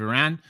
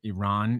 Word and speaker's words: Iran: I keep getting criticism about how I pronounce it. Iran is apparently the correct way to pronounce it. I'm from the Midwest, and so I'm very used to saying Iran.